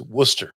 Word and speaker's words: Worcester: I put in the teleprompter copy, W-U-S-S-T-E-R. So I would say it right. It's Worcester.